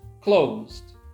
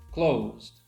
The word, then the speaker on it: closed: Well, it's pronounced closed, closed. You see, letter E is silent, so there's only one vowel sound, which means there's only one syllable, closed.